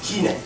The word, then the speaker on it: chinae: Caesar, Cortex, Kine, like China. Like China, with AE at the end.